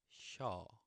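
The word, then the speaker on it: 쇼: Okay, so the main difference between so and shaw, there's that Y pronunciation, Y sound.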